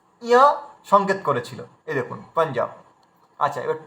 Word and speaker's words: পাঞ্জাব: তো এখানে দেখুন আমরা ইয়কে ধরেছি, তার মানে এই বিন্দি সংকেত করেছিল যেটা ইয়া উচ্চারণ হবে। আচ্ছা পাঞ্জাব, পাঞ্জাব, পাঞ্জাবের ক্ষেত্রে দেখুন এই দেখুন, আচ্ছা এটা